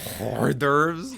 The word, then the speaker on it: hors d'oeuvres: Hors d'oeuvres? Hors d'oeuvres. That's just how it's properly pronounced.